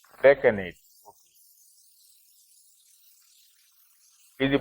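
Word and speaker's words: decanate: That is on the use of Gresh Kona or Deccanate. Is that how you pronounce? Deccanate.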